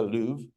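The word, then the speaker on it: Louvre: it's like I don't know go to the lou that we pronounce it the Lou and you I get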